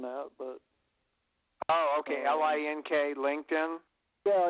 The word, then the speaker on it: LinkedIn: I don't know what Lycum is. You're not saying LinkedIn. Well, that's the way I pronounce it. It might be pronounced something different than that, but. Oh, okay. LINK, LinkedIn.